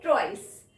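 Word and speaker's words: trois: Now 3 को हम लिखते हैं ट्वाइस. बोलते हैं ट्वे.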